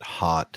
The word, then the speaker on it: Haute: And please note that hot is spelled Haute.